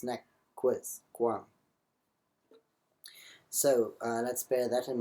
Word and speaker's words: nec quisquam: Still, this is not nec quisquam. Obviously, these are short vowels. Nec quisquam.